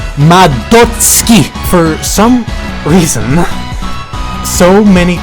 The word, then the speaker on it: Madotsuki: just take a second here to vent it's pronounced madotsky for some reason so many people struggle to say it properly it's not mad dotsuki it's not mado suki all you know is that this character's name